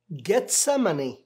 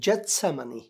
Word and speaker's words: گیتسمنی: کسی بھی طرح کریں۔ عبرانی زبان میں جیم نہیں بلکہ گا کہتے ہیں، تو گیتسمنی یا جتسمنی آپ چاہے کچھ بھی کہیں، اور عربی زبان میں گاف نہیں ہے اس لیے وہ جتسمنی